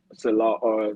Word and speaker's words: Salah: get of C leag yeah cell how you pronounce it Angry um Robert Salah Salah yeah Salah Salah I'm sorry right right